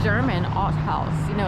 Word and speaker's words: Haus: like German Al house you know it's spelled h a u s all right we'll